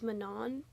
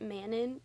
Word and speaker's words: Manon: I believe that's the one that follows I think you say her name is Manan. I always said it. Manon when I was reading it, but I think it's Manan, which feels wrong coming out of my mouth, but I think you